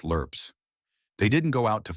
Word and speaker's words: LRRPs: These men were part of a secretive force known as the longrange reconnaissance patrols, or LRPS, pronounced lurps.